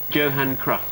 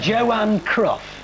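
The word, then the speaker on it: Johan Cruyff: merer in the 1974 World Cup used to pronounce Yan C's name Johan crof I'll give you one anyway it was thank you it was Joan cruff he okay that means in fact the score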